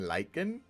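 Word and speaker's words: lichen: It's got an I. I has the I sound, not the Y.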